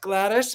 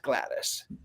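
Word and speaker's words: Gladys: would call her Aunt Glattis, but she's not in the UK. She's American. She's Aunt Glattis, which I find to be rather fascinating as well.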